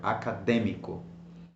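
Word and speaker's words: acadêmico: go why not me why don't I stress me because there is an accent over the e then then so you have to stress that word académico we also have words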